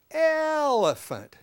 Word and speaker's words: elephant: little exercise here okay now when we say the word elant we stretch that out because that first syllable the L is actually the longest part of the word and then the eant is very short okay so let's you